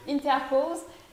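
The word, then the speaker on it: Interpals: Interpols, Inter comme on l'entend, Ok. et Pals, P-A-L-S.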